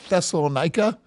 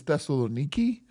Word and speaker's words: Thessaloniki: Yeah, so we look at Thessalonica or Thessalonica. The modern city is Thessaloniki. So if you could just pronounce that a different way, that would be helpful to me. Thessaloniki, right?